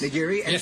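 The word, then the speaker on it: nigiri: and salmon and salmon and this is a ngiri is am I saying it right yes niri and what show us how it's done okay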